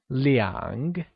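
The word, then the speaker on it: 两: before two translates to liang which is pronounced using a falling rising tone here's an interesting tip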